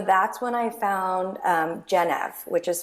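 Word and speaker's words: Gennev: So that's when I found um Genev which is spelled G as in girl, E is in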